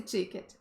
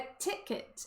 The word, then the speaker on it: ticket: E aí depois meu chefe veio falar, Aline, você tá falando estranho esse ticket. É ticket, é ir curtinho.